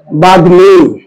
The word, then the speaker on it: বাগ্মী: যেমন দেখতে এখানে কি নয়ের সাথে ম আছে না, আর পরেরটা দেখেন তো কি গয়ের সাথে ম আছে না, তাই এর উচ্চারণে মফলাটা বজায় থাকবে, তাহলে এটার উচ্চারণ কি হবে বাগ্মী।